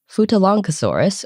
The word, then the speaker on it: Futalognkosaurus: Which involves a G followed by an N, which I have no idea how to pronounce. So we're just kind of pronouncing it like it's long, even though it's L-O-G-N.